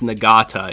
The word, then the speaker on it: Nagata: uh nagata i i somebody told me how to pronounce his name um and i guess i was pronouncing it wrong i think it's nagata is how i was told to pronounce it i was pronouncing it like halotinata before so it's joseph nagata